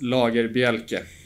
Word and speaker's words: Lagerbielke: Yeah, it's Lagerbielke, but my friends and former teammates call me Lager.